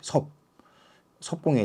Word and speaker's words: 葉公: 자한테이 말을 했거든요 여기서 이거를 보려고 합니다 여기 섭 공에 대해서 섭은서 이제 섭이라는 의미고 여기는이 그 발음 얘기합니다 공은 초윤 심이라 자는 자고라 참